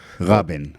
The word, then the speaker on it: Rabin: it's Rabin in in in Hebrew you pronounce it differently okay Rabin that's how you pronounce